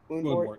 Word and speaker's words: Woundwort: Also, that Woundwort, or am I pronouncing it right? Woundwort, yeah.